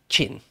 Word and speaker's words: Qin: there you go yeah Quinn is chin for a start but um another thing just very quickly to sound that is to pronounce it properly not only do you need to know sort of what it's supposed to sound like but you've really kind of got to put on a Chinese accent to do it real